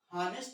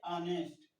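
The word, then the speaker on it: honest: तो इसमें मैं बता दूं जब कोई वावेल्स के पहले हमारा कॉन्सोनेंट होता है तो हमारा एच जो होता है साइलेंट हो जाता है। जैसे अब इसको हॉनेस्ट ना पढ़ के पढ़ेंगे ऑनेस्ट, इसको हावर ना पढ़ के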